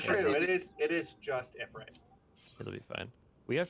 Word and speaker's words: Ifrit: Ifrit is the correct way to pronounce like the Yeah.